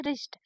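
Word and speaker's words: wrist: पढ़िए रेस्ट मतलब कलाई यहां डब्लू साइलेंट है तो इसलिए हम पढ़ेंगे रिस्ट आपको याद रखना है कि डब्लू के तुरंत बाद अगर आर आता है तो हमें डब्लू का उच्चारण नहीं करना है जैसे राइट लिखा है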